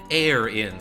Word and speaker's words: Aaron: I pronounce Aaron air-in, says Anthony Curley. I sort of say it like it's error, like the air in error, and then just in.